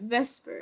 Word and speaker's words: VSEPR: Also, if you're feeling lazy, you can pronounce it Vesper. Vesper.